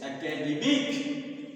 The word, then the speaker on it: academic: So on the first, it is stress on the second syllable, and here this is stress on the third syllable, and it is on fourth syllable. So academy, academic, academician.